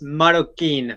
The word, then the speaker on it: Marroquín: way past already but the point is Maro Quinn how are you am I pronouncing your last name correctly it's maroin for the last name mokin M okay